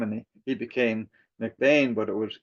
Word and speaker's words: McBean: And even though my last name is spelled B E, it's pronounced McBain, my dad and my grandfather were always so uh insistent that you had to pronounce your last name Mcbane.